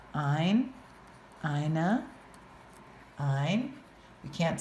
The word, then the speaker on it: ein: Ein rhymes with mine.